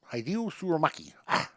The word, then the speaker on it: Hideo Tsurumaki: Hideo Tsurumaki.